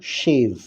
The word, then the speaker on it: shave: এবার দেখো ভালো করে উচ্চারণটা শোনো, শেভ, SHAVE।